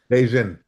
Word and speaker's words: Begin: It it sound it looks like begin, but how do you pronounce it? Beijian.